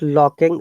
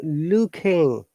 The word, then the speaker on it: looking: i saw one eyed not locking looking say it with me not yes later you have to perfect this i'm looking not locking lock has got some something else looking looking